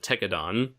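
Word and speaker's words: Tekkadan: little slight tangent here it's pronounced techadon because it's like the end it ends with da and dawn and yet the the english double always pronounced is it as techadon like skipping over the a entirely or treating the a like an e I'm just sorry it's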